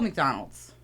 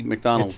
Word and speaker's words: McDonald's: think I'm with Andy I think I say McDonald's three syllables yeah like it you